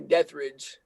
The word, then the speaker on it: Deathridge: It's actually Deathridge. Deathridge. There you go. Deathridge. Yeah. I know it's a pretty badass. confusing last name. It's spelled with two different words, so pretty confusing. A lot of people get it mixed up.